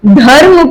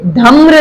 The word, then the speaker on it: धर्म: इसको हम धर्म प्रोनाउंसिएट करेंगे, धम्र नहीं।